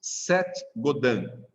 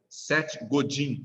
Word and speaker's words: Seth Godin: Seth Godin se escreve. Seth com S-E-T-H. E o Godin, do jeito que se fala. Godin. Do jeito que eu estou falando, quer dizer. Godin, com N no final.